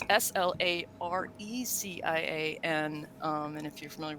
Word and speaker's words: Slarecians: I call them yeah to pronounce there is an eye there so I'm leveraging it it's SLA or EC ia and and if you